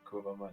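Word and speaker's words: kurwa mać: I thought it's much, but today I saw a Hearthstone stream and the guy was screaming kurva mats, and then I thought, that's how you pronounce it, because I've never actually heard a Pole say it. No, So my first instinct was correct, kurva mats.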